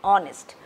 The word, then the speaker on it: honest: There are differences in pronunciation for putting an, like our, H-O-U-R and honest, H-O-N-E-S-T. Again, our and honest sounds like our, O-U-R.